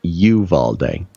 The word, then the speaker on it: Uvalde: notes uh from people especially in texas it's pronounced you've all day you love all day okay you have all day yeah that's apparently